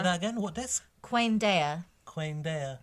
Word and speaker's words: Quaendeia: Queen Dea. Yes, that's how it's pronounced in the back of the book.